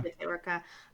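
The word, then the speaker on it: Bitte Orca: I think I only started getting into Dirty Projectors around like Bit Orca, is that how you say it? Orca, yeah. Bit Orca, which has aspects that are like jarring, you know, unsettling a little bit.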